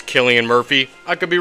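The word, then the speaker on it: Cillian: I've heard people say selan Murphy which that to me just does not make any sense but what I'm pretty sure it's Killian Murphy I could be wrong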